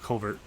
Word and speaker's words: covert: The proper pronunciation is covert. What did I call it? You use some crazy New York accent. Talking about covert. Covered. Covered ops. Whatever. Covert.